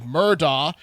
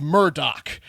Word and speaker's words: Murdaugh: I guess Murdaugh, spelled Murdaugh, and Google pronounced Murdaugh, is pronounced Murdoch.